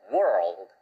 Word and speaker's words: world: 이거는 were까지는 똑같은데 L을 한번 튀겨줘야 되는 거예요. 그래서 world, world. 아시겠죠?